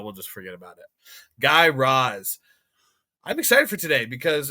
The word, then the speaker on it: Guy Raz: second episode of How I Built This by Guy Roz. Learned that's how you pronounce it. Totally incorrect last episode, but you know, we'll just forget about it. Guy Roz.